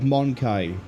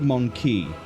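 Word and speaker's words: Mon-keigh: Fun thing about the word Monkai by here. She's pronounced it Monkey. But if you play things like Dawn of War 1, where the Eldar are there, they pronounce it, like I just did, Monkai.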